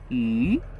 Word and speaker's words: 鱼: In Chinese, fish and extra are both pronounced 鱼.